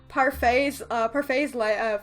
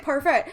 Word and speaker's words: Parfait: she has told me it's pronounced Parfait, so no T at the end, and I'm